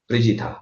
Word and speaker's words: Prijitha: Thank you प्रीतिजा। Is that a correct pronunciation? प्रिजिता। Yes, sir. The second pronunciation was correct. Prijitha. Okay, Prijitha.